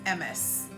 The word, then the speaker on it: Ms.: And that then takes us to what we'll spell as MS, right? Now, MS is not pronounced Miss as most people would. It is pronounced as Ms. So M-I-Z, that's the pronunciation.